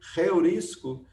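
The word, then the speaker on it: εὑρίσκω: Então, em vez de odós, fica rodós. A palavra rodós, que significa caminho, então, ela é pronunciada dessa forma por causa desse sinal que a gente chama de aspiração áspera. A palavra eurisco também, que a gente lê reurisco, é também por esse motivo.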